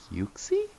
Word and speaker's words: Uxie: Did you say Yuxie?